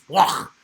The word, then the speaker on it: Bloch: By the way, Douglas Block in German, it's Bloch, Bloch.